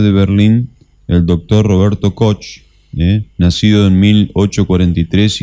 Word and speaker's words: Koch: En realidad en alemán se pronuncia Koch, como una J a la CH, pero es que son los bacilos de Koch, digamos, como lo conocimos en la infancia.